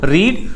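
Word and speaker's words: read: हैं irregular verbs जैसे रीड रीड का सेकंड फॉर्म रेड और थर्ड फॉर्म होता है रेड इसमें ईडी लगा ही नहीं स्पेलिंग सेम थी बस साउंड थोड़ा चेंज हो गया फिर वैसे ही सिट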